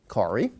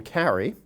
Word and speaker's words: Kari: rather than object or my mother-in-law is Kari pronounced Kari do not call him Carrie He does care you're